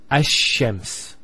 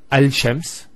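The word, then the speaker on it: الشمس: And because they're very close, what happens is this lam is not pronounced. And what happens instead is the lam is pronounced as a sheen. So there's actually a shadda here. So it's Ash-Shams, not al-shams.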